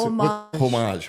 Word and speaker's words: homage: What's homage? I like to say homage, and the H is silent.